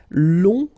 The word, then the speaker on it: long: Okay, so long, remember you don't pronounce the final G, will become longue.